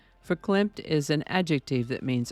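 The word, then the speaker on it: verklempt: tomorrow today's word is for clamp which I have discovered is actually pronounced with the beginning F sound rather than a v sound for climp is an adjective that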